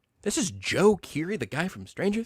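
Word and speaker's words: DJO: And, uh, Renee and I went to go see Joe, which is spelled DJ O.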